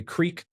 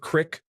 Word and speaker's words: creek: I'm sorry I say creek now instead of crick, or roof instead of rough.